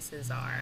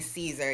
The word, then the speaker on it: Cesar: I'm saying Cesar right. Correct. I'm saying it right. I feel like they was pronouncing it Caesar, even though it was spelled like Czar, like Czar, Yeah, like Cesar. like an emperor.